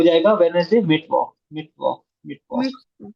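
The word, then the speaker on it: Mittwoch: Mid walk.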